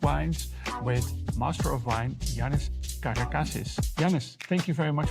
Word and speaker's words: Yiannis Karakasis: My name is Shirun and today we're going to talk about Greek wines with master of wine Janice Kardakasis.